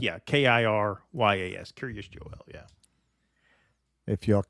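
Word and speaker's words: Kiryas Joel: Curious Joel. So it kind of sounds like Joel. It sounds like Right. curious, like Curious George, but it's curious. Right. Yeah, Kiryas.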